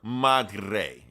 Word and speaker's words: Madre: You got to Madre.